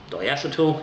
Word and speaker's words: diacetyl: it is riddled with diacetyl diacetal if you want to pronounce it that way yeah that beer is